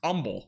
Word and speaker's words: Humble: would be but I learned so fast it's pronounced humble is this actually called humble right here near 69 Interstate 69 is anybody from that area I thought it was just humble I mean I don't know I used to